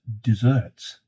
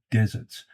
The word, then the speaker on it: deserts: Star Trek and others, pronounce the word desert as deserts. Patrick, if you happen to be watching, it is most certainly deserts, not a fruit-based treat after the main meal, as that was the most common desert.